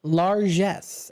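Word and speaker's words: largesse: This is called Lares. And it sounds like it's a French word. Lares.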